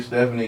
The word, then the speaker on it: Stefunie: I've done rebranding so Stephanie is s-t-e-f-u-n-i-e spelled a little bit different um but still pronounced the same stuffy music that's that